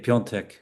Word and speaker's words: Piątek: Yeah, thank you, Tim, for pronouncing his name correctly in Polish. It means Friday, the fifth day, Piątek.